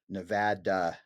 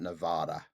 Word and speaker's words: Nevada: It's Nevada, not Nevada. Not Nevada. Yeah. Nevada. That's how we know you're not from here.